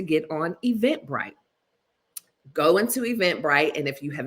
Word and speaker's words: Eventbrite: on Eventbrite go into Eventbrite and if you have not ever heard of Eventbrite it is spelled exactly the way it sounds but the bright is b r i te and event bright is